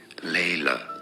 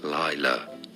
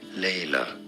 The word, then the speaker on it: Laila: up Layla pronunciation General in English it would be said as Layla let's go so much